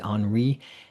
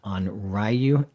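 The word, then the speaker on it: onryō: The what we call a Yuri is a type of spirit, the Henri. Uh, I'm mispronouncing it again, Onryu.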